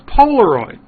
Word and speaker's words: Polaroid: one of them was Polaroid you've heard of Polaroid the name lives on although the company's long gone I would never invest in a company whose names rhymes with hemorrhoid I just don't think